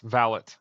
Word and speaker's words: Valet: read Executive Order 13848, the T is pronounced, Valet. Like my last name's Malat, and your last name is Valet.